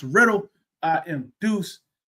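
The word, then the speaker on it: RITL: That's R I T L pronounced Riddle.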